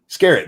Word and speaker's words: Skerritt: Tom Skerritt, is that how you say his name? Tom Skerritt? Skerritt, that's it.